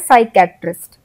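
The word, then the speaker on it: psychiatrist: नहीं ले रहे हैं, हम एस से उच्चारण शुरू कर रहे हैं, हम बोल रहे हैं साइकेट्रिस्ट। हम पी का यूज इसमें उच्चारण में कहीं भी नहीं कर रहे हैं, लेकिन जब हम स्पेलिंग लिख रहे हैं तो हम पी यूज कर रहे हैं।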